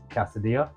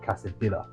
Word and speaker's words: quesadilla: I actually found out literally about 2 minutes ago that you pronounce it quesadilla, not quesadilla. I actually thought you pronounced the two L's, but you don't.